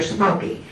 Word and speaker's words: Smoque: donna ruth the bay but everybody called her smokey spell that s-m-o-q-u-e she said they called her smokey